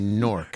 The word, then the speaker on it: Newark: even Newark but now it rhymes with pork by the way for future reference you don't say newer no you don't say New Orleans maybe maybe if you're in Delaware Newark Newark like cork pork dork